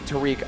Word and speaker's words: Tarik: chat by the way we asked him how to pronounce his name he said please call me Tariq on commentary you guys